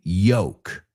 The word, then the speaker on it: yolk: And again, tiene la L esta muda, la misma que verás en walk, talk, right?